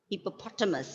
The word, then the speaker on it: hippopotamus: hippopotamus, Hippopotamus. Yes, hippopotamus. So here you can see the this syllable is stressed, hippopotamus.